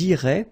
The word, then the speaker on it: iraient: And then if you look carefully, you get A-I-E-N-T. Okay? But then phonetically, it goes like E. Okay, so technically these form and these forms here are pronounced the same way, and it goes like irait.